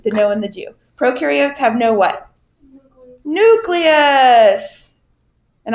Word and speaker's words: prokaryotes: Remember, pro rhymes with no and U rhymes with do. And what is that referring to, the no and the do? Prokaryotes have no what?